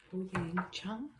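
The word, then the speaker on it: Hoyeon Jung: This is a huge ad, a huge Louis Vuitton ad, and we have Ho Yang Chung here.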